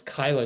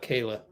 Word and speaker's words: Kyla: Oh, it's Kyla Charles, not Kayla.